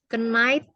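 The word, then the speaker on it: knight: Night, ke night ya, kesatria. Caranya bacanya juga mirip. Ke night. Ini artinya kesatria. Cara bacanya gini ya. Ke night. GH-nya silence.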